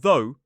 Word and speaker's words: though: So, throw and though rhyme.